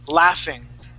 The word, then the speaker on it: laughing: The word is laughing. That GH it makes it an F sound.